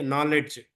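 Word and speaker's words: knowledge: फिर के नॉलेज, नॉलेज में के साइलेंट हो जा रहा।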